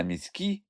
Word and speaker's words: міські: дати пояснення й тут слова пруські та міські мають наголос на останньому складі а слово псиці на першому Різдво 1896 року дівча